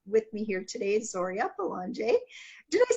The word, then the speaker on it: Belanger: and I have with me here today Soria Boulanger do they say that right you did okay